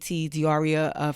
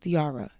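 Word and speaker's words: Diarra: Diaria from Detroit. Why am I saying Diaria's name wrong? Diara. Am I adding the Ia?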